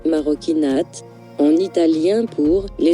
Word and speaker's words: Marocchinate: maroquinate, maroquinate, maroquinate, maroquinate, prononcé maroquinate, en italien pour « les actes des Marocains